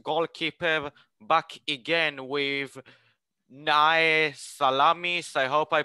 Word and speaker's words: Salamis: are the first goalkeeper back again with nai salamis i hope i pronounced it right yes yes salamis yes i i spent the half season